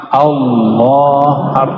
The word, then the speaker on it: Allah: Lafaz Allah, coba baca Allah. Saya orang Sunda bacanya Allah. Ya, al itu bukan dia lam ketemu lam. Allah harus disambung, bukan mati dia.